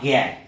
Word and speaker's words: জ্ঞান: কিরকম না জ্ঞান তাহলে অনেকটা গ এর মত উচ্চারণ হচ্ছে তাহলে এটা হচ্ছে বড়িয়া